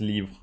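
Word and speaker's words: Livre: for book in French leave it's like live but there's an r and you pronounce it pronounce it the same way as leave but you add an R before the E the last e and it's leave yes I haven't met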